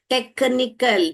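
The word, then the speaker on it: technical: Take, क, यहाँ पर क बोला उसने, यहाँ पर टेक्निकल, टेक्निकल, क क क क टेक्निकल।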